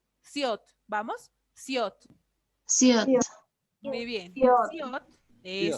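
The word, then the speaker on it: 시옷: Más que shiot, Shiot. le vamos a poner este sonido para que no se confundan. ¿Ya? Voy a poner siot, así. Siot, ¿vamos? Siot. Siot.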